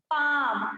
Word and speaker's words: palm: एल आया है यहाँ पर, तो ये भी साइलेंट हो जाएगा। इसको क्या बोलेंगे हम लोग, पाम।